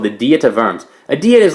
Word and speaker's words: Worms: is called the dieta verms idea is like a meeting or a trial and verm's is a place you want to say die to worms so that's not how you pronounce it and he's very famously